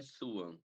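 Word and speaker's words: Sioux: o nome oficial é suan alguma coisa assim mas aquela que se escreve seks Então eu acho que dificilmente alguém vai olhar seks e ler su aham eh e é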